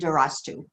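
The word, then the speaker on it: دَرَسْتُ: for a second um both of you put in an extra syllable okay you'll notice that there's a succumb over the the third letter okay okay okay go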